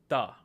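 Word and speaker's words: त: So for English speakers to accurately pronounce this letter, what you do is you take your tongue and have it touch the teeth and then say any word that starts with T or has T as a non-aspirated form.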